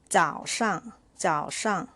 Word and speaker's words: 早上: This is neutral tone, so you can pronounce shang shang like this. 早上早上 it means morning.